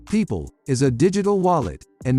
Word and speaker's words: Pyypl: how does pipel work pipel pronounced people is a digital wallet